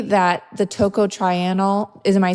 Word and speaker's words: tocotrienol: Would you say that the tocotrienol, am I saying it right? Tocotrienol? Yeah, tocotrienol, Okay.